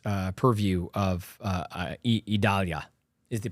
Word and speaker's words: Idalia: in the direct uh purview of uh uh idalia is the correct pronunciation of that by the way Italia those